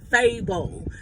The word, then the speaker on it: Fable: When she was pronouncing his name wrong, yeah, that's not how my name is pronounced. It's Fable.